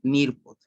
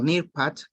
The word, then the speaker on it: Nearpod: Del Nearpod, ¿bien? Nearpod o Nearpad, que es la pronunciación correcta, vamos a poder iniciar.